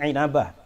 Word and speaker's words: Inabah: Bacanya jangan ambah tapi Ainabah.